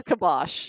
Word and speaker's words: kibosh: it's kibosh. Yeah, that's not even how you spell it.